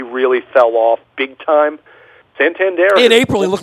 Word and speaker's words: Santander: Yeah, and they finally figured out it was Santander, not Santander.